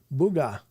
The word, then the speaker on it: booger: I hear it pronounced Booga in North Carolina.